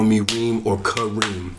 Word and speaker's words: Reem: That S is silent. Because I've met people and they call me Reems. And I'm just like, fam, it's just one of me. That's all it is. It's just Reem.